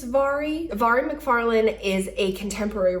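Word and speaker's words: Mhairi: is my favorite author I am probably mispronouncing her name she is Scottish it's m-h-a-i-r-i but I think it's Vari Vari McFarland is a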